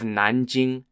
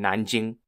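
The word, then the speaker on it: 南京: it was a gateway to the city of Nanjing n-a-n-j-i-n-g for those of you don't know at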